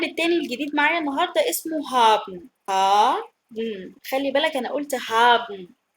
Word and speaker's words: hab: لما بتتكلم سريع بنحذف حرف الايه في تصريفات الافعال مع البيرسونال برونوم.